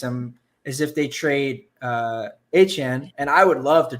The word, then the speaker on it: Etienne: That's how you pronounce his name, by the way. Not Etienne anymore. He said it's Etienne.